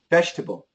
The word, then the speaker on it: vegetable: It should be a J, but you're absolutely right. Many times it changes to a ch and perhaps even an sh sometimes too. Vegetable.